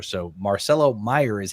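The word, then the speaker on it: Mayer: Did you guys know Marcelo Meyer is actually how you say his last name even though it's spelled M A Y. It's actually pronounced Meyer. So, Marcelo Meyer is how you say it.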